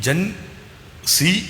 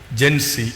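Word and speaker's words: Gen Z: അതിൽ അതിൽ എത്ര ഈ ജൻ സി എന്ന് പറഞ്ഞാൽ ജനറേഷൻ ഇസഡ ആണ് അമേരിക്കൻ ഉച്ചാരണം ഇസഡിന് സി എന്നുള്ള ആയതുകൊണ്ടാണ് ഈ ജൻസി എന്ന് പറഞ്ഞുവരുന്നത് 1997നും 2012 നും ഇടയിൽ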